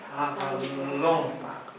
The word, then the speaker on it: parlons: Nous parlons. La prononciation c'est on. Ok, c'est nous parlons.